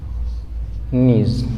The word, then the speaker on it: knees: जिससे हम लिखते हैं नीज, नीज मीन्स घुटने, नी मीन्स होता है घुटना, और इसका जब प्लूरल बनाते हैं नीज, तो वहाँ हम देखेंगे यहाँ के साइलेंट रहता है, आप जानते ही हैं।